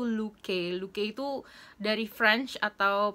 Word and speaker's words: Looke: Awalnya aku bingung gitu kan, si Luke ini tuh pronounce-nya gimana, ternyata dibaca itu Luke.